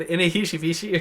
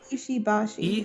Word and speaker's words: Ishibashi: I said Inihishibishi or something like that. Something like that, yeah. I think it's actually pronounced... It should be... Yeah, Ishibashi. Ishibashi.